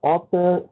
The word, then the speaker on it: author: Author is an author sounding as O. Although the spelling is A-U-T-H-O-R, but the A-U pronounced as O, as an O, author. Whereas it was pronounced as something like utter or something like that. Next word is lectern.